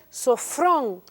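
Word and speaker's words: σώφρων: Además viene de una palabra que se pronuncia sofrón, lo cual significa de mente juiciosa, con dominio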